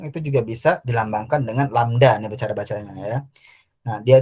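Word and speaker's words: lambda: lamda kali F itu cara baca huruf ini lamda ya namanya lamda nah F itu frekuensi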